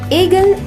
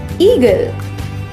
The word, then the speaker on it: eagle: ईगल इसका गलत उच्चारण है। इसे सही से बोलने के लिए पहले बोले ई, फिर बोले गल, जोड़कर बोले ईगल।